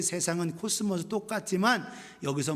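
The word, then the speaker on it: κόσμος: 코스모스 이 발음, 그래서 모든 세상 질서를 얘기하고 있어요.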